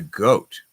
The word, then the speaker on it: GOAT: But what about the GOAT? I saw that Pharrell and David also got it right. The GOAT. We pronounce this as GOAT. We don't say GOAT because it's just simpler.